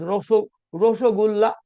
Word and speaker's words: Rasagulla: The guest uh, brought Rasagulla. Bengali people who claim that Rasagulla was their creation, they pronounce as Rosagulla, but the host gave Gulab Jamun in the form of, they received a lot of Rasagullas.